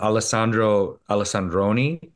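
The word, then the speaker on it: Alessandro Alessandroni: yeah I wanted to talk about that um alesandro alexandroni yes excellent excellent pronunciation sir thank you he did I know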